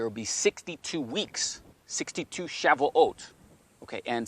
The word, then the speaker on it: Shavuot: the year, and also Shabuot, okay, is really a better pronunciation, or Shavuot.